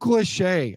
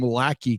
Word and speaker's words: Lachey: Luke Lachey. I kept saying his name wrong like all season long. I kept calling him Lachey because it's Lachey. And then I started watching tape on him.